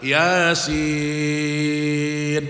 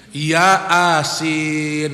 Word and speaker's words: Yasin: Yang benar apa? Yasin. Itu yang benar. Karena dia baca Latin, dia baca apa? Ya asin. Nah, itu dia baca ya asin jadinya. Karena ayah kan jadi banyak kan Yasin ini ya asin jadi